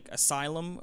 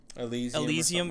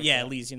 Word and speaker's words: Elysium: the world tree on top of it is Asylum, I think is how they say it. Elysium. Elysium, that's it.